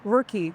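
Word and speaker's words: Ruky: And and just for our audience, what is uh and I apologize, is it pronounced Rookie or Rookie? Rookie.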